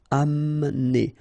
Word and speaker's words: Amener: Don't insist on the E here because you don't really pronounce it. Amener.